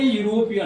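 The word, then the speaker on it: European: ए यूरोपियन जैसा हमने बताया कि इ यू अर्थात पहला अक्षर तो वोवेल है लेकिन उच्चारण यो वाई की तरह हो रहा है कंसोनेंट साउंड में इसलिए ए यूरोपियन इसके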